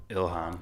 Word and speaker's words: Ilhan: Ilhan.